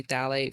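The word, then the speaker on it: phthalates: fragrance um sulfate free thet free not thet is when you're looking on the label it's it starts with the p yes the p is silent the p is silent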